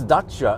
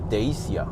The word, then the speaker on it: Dacia: not Romanian, or like James May calls it Dacia, the Dacia Sandero. Yeah, the Dacia Sandero. But I think it's supposed to be pronounced Dacia.